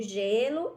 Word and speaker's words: gelo: da vogal É e tem um som de J G né G aí nós temos Aí o exemplo da do Gelo e da girafa não é isso gelo e girafa olha só que estão